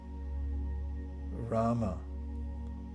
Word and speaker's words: Rama: And now, in your mind's eye, and silently, with unstruck sound only within your mind, you can pronounce the 2-syllable mantra, which means spiritual substance, spiritual happiness. Rama, R-A-M-A.